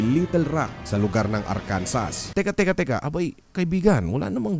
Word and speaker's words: Arkansas: Bawal mo ding bigkasin ang Arkansas with S ang Arkansas kahit na ang palatitikan nito ay A-R-K-A-N-S-A-S.